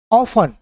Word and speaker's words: often: ठीक है, ऑफन, OFTEN, ऑफन। अब यहाँ पे जो टी है इसका जो प्रोनाउंस है यहाँ पे साइलेंट हुआ है, तो इसलिए ऑफन यहाँ पे आया है, ऑफन।